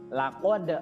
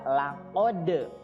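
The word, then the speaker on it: لَقَدْ: Nah, di ayat yang keempat, laqad khalaqnal insana fi ahsani taqwim. Di situ ada laqad, huruf qaf ya, dibacanya harus terasa di sini ya. Laqad ya, bukan kaf tapi po ya, tidak keluar udara.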